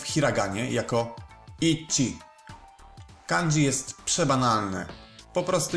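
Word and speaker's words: 一: 1 piszemy w hiraganie jako ichi.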